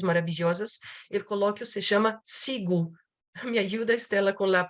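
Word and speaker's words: CIGU: El coloquio se llama SIGU. Me ayuda, Estela, con la pronunciación de las letras.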